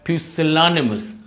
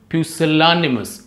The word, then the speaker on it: pusillanimous: as as well so there are five syllables in this word there are five syllables so this this is the syllable here we stress so the word is the word is pronounced as pusillanimous pusillanimous all right next